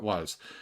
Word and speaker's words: Roy: goalie called Patrick w now is spelled r o y so it should be Roy but you know the French they don't know any better and they called it w so Patrick W he